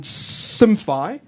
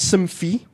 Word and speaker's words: Simfy: 12 days awesome y it's called SFI not simi simi say it correctly please I founded I found